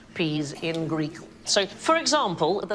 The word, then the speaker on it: psi: pronounce it psi, but in Greek, that sound is more like the PS that we have in laps.